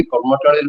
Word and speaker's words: কর্মাটাড়: একটা হচ্ছে কর্মাটাড়ে গেছিলেন, উচ্চারণটা হচ্ছে কর্মাটাড়, কর্মা নাম থেকে এসছে ওটা, কর্মাটাড়।